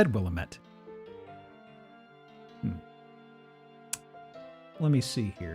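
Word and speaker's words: Willamette: Also, it's pronounced Willilamett. Didn't Isn't that what I said? I said Willilamett.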